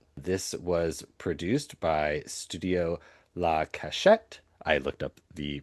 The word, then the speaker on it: La Cachette: do you pronounce Studio La Cachette? So they said that that's what it was. Cachette or cachet, I think it just depends on if you have a French accent or not.